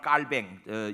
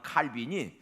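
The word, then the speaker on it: Calvin: 주도 다음에 한 사람 깔 뱅 영어 발음은 칼빈이 제네바의 외에 다가 교회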